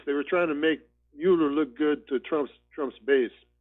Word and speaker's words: Mueller: It's Mueller, but everybody calls him Mueller.